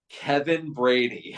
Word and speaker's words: Kevin Brady: was like, okay, so it looks very intimidating, but it's pronounced Kevin Brady.